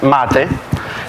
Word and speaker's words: MATE: will start with pronunciation it would be hard for non-english speaker because it's Matty the name come from South America and I up the